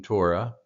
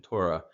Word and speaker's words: Torah: thought about, is oftentimes the He is silent. You could also see the He replaced with an aleph to get the same pronunciation, Torah, which would give another interesting look at the meaning of Torah.